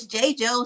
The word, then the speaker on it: JaiJou: It's Jaidyn and Journey. Those are my two daughters that I absolutely love. And the company name starts from, because Jaidyn spelled with JAI, and then Journey spelled regular. So it's JOU.